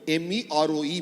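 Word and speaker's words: Meroë: In the southern end of the river, where the river passes through Sudan, Khartoum, it's called Mero, M-E-R-O-E, Mero. So the similar structures have got phonetically similar meaning, names and similar meanings both in India and in Egypt.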